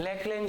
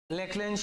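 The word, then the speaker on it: Leclanché: cell सूखी cell और लेकल cell एक सेकंड इसकी स्पेलिंग देख के बताए भा एली सी एच एल ए एन सी एच लेकल cell ठीक बे क्योंकि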